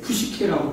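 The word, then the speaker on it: ψυχή: 어찌됐든 그래서 이제 혼에 대해서 다시 이제 푸시케라고 발음하는데 이 혼이라는 게 원래는 뜻이 하나의 생명 개념이었어요.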